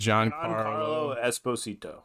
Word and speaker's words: Giancarlo Esposito: Giancarlo Giancarlo Esposito.